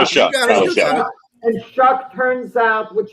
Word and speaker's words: Shough: million a year, and how do you say his name? You're right. It's Tyler Shough.